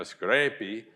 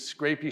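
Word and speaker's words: scrapie: a disease called Scrapy which if you think of it sort of as if a Scottish person pronounced it you know Scrapy you understand that it's like the Sheep is scraping himself so it's not actually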